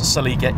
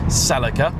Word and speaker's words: Celica: And in case you're watching from America, yes, Celica is how we pronounce it. We don't say Celica.